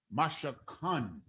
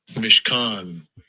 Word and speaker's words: Mishkan: Ma, shah, kan is the word.